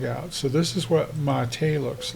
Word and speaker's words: MATE: very polite and he's like look should be pronounced mate like m a h ma t a way mate this is what it looks like it's a little bigish for me.